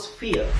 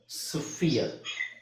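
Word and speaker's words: sphere: ಸ್ವಲ್ಪ ನೋಡ್ಕೊಂಡು ಉಚ್ಚಾರಣೆ ಮಾಡಬೇಕು ಇಲ್ಲಿ ಎಸ್ ಉಚ್ಚಾರಣೆ ಸ ಅಂತ ಹೇಳಬೇಕು ಪಿಎಚ್ ಎರಡು ಸೇರಿ ನಿಮಗೆ ಫು ಫ ಅವಾಗ ಏನಾಗುತ್ತೆ ಸ್ಪ ಸ್ಪ ಓಕೆ ಸೊ ಸ್ಪಿಯರ್ ಸ್ಪಿಯರ್ ಅಂತ ಹೇಳಬೇಕು ಬಟ್ ಅದು ಸ್ವಲ್ಪ ಕಷ್ಟ ಆಗಬಹುದು ನೀವು ಸ್ಪಿಯರ್ ಅಂತಾನೆ ಹೇಳಿ ನೋ ಪ್ರಾಬ್ಲಮ್ ಸ್ಪಿ ಸ್ಪಿಯರ್ ಆಕ್ಚುಲಿ ಫಳಬೇಕು ಸ ಫಸ್ ಮತ್ತೆ ಎಫ್ ಅಂದ್ರೆ ಇದರ ಉಚ್ಚಾರಣೆ ಎಸ್ ಎಫ್ ಇ ಆರ್ ಇತರ ಸೌಂಡ್ ಬರಬೇಕು ಸ ಫ ಇರ್ ಸ್ಫಿಯರ್ ಸ್ಫಿಯರ್ ಓಕೆ ಸೋ ಇದು ಸ್ವಲ್ಪ ವಿಚಿತ್ರ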